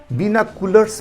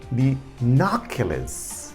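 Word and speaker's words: binoculars: इसको आम आदमी कैसे पढ़ता है बिनाकुलर्स पढ़ता है, लेकिन क्या कहते हैं सही प्रोनाउंसिएशन होता है बिनाक्युलर्स, ठीक है।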